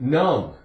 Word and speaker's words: numb: N-U-M-B, B is silent. Numb. It's not a long U. short U.